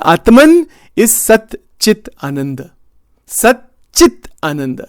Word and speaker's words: Sat Chit Ananda: Sat Chit Ananda. I have to pronounce it carefully. There's no H there.